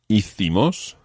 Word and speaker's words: hicimos: And that's spelled H-I-Z-O. Hizo. Hizo. Now, the we form is hicimos.